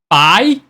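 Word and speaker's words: 白芷: time all right let's start from exaggerated one by so this is going to be how we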